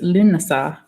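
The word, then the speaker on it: Lughnasadh: very great holiday Luke Luke Mashhad pronounced Luna saw for a loon saw the name meaning the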